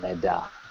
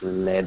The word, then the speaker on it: Lea: this week is called Lea um I also thought it was L but it's Lea here they pronounce it's right next to naara